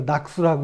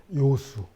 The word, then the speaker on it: 요수: 이거 낙수라고 읽으시면 안 됩니다. 요수. 즐길 요자입니다.